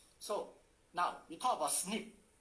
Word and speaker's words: SNP: now we talk about snip s sniff sounds like snip when you hear it you look at the